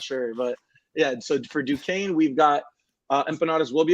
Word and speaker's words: Duquesne: going to be, I believe, I can never pronounce their name right. Is it Duquesne? Duquesne.